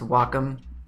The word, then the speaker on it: Wacom: stylus i'm using a wacom cintiq and it's pronounced wacom i know that a lot of people say